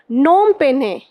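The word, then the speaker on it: Phnom Penh: नोम पेन्हे, इसमें क्या है, पी आपका साइलेंट है, पी एच।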